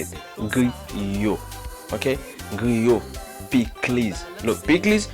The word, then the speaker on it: griot: Griot. Okay, griot. Plis. Look, plis. This is not coleslaw. That's plis. Haitian plis. I have a little spicy. I mean, I don't like spicy, so plis. Griot, plis, banane pesé.